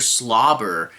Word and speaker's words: Swlabr: 2 Episode 15 and this one's entitled Mr slobber I will say it's spelled s SW L A I've never seen